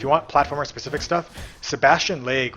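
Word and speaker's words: Sebastian Lague: want platformer specific stuff Sebastian leg which I think how you pronounce the name s e b a s t i o n l a g u e has one of the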